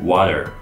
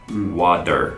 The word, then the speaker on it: water: so in British English the T's in the middle or at the end of the word are either pronounced quite strongly or not pronounced at all for example the word